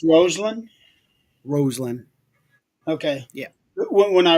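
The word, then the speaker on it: Rosslyn: pronounced Roseland. Roseland. Okay. Yeah. When I read it, it reads like it's Roslyn Yeah.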